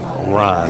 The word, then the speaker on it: Rone: He does pronounce his name Ron, R-O-N. I guess we'll leave the E off here. Okay, it's Ron.